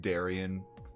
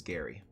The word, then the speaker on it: Darion: Darion by most people the most common thing I get when people mishear me say my name is Gary really so so ninety percent of the time people don't listen for the third syllable they listen to two syllables Dairy my name is dairy